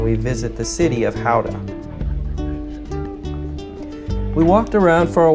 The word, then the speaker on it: Gouda: In markets like this in the Netherlands, locally produced cheeses like Gouda, or as Americans say, Gouda, chocolate, fresh pancakes, poffertjes,